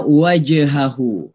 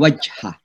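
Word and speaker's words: وجه: Yang kedua, ada wajhahu, aslama wajh, ya, jim sukun, namanya qalqalah, ya. Jadi membacanya bala man aslama wajh, ya. Jangan dibilang wajha, wajh. Jadi kayak memantul gitu ya, qalqalah, ya.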